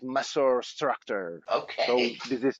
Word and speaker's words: Maessorr Structorr: the band appeared, and basically it comes from Latin because original Latin pronunciation Maessorr Structorr means the ant species. While we said okay for Anglo-Saxon environment, we should call it Maessorr Structorr.